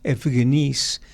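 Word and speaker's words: εὐγενεῖς: Y luego dice, ni muchos aquí dice la traducción es aristócratas, la palabra griega que utiliza el apóstol es efgeníis.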